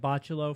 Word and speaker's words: Bachalo: I'm going to pronounce it Bachalo for the remainder of the show and stop correcting myself.